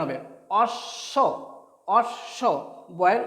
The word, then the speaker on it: অশ্ব: অ তালবস্যে ব, অ তালবস্যে ব কি হবে, অশ্ব, অ তালবস্যে ব অশ্ব। এখানে দেখো একটা ব্যাপার দেখা যাচ্ছে যে অশ্ব অ তালবস্যে ব যে যুক্ত বর্ণটা হয়েছে, এখানে বয়ের কোনো উচ্চারণ নেই।